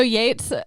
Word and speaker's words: Yeats: was easily stopped by Yeats and like a couple other wizards. And so they stopped him at the stairs. One quick thing. It's pronounced Yates. Yates.